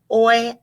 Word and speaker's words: hoy: Hoy hace calor. Hoy hace calor. Remember our silent H on hoy, silent H on hace, calor.